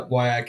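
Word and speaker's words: WIAC: the way I saw a little poll on Twitter about weak wak wak has definitely had the overwhelming majority pronunciation wise yeah wak is certainly the way you say it I can promise you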